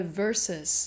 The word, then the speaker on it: versus: 很容易会被我们省略整个音节，就像在 versus 变成 verse 的这个状况里面，